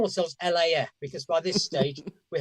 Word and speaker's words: LAF: How do you pronounce the current band that they're like? LAF.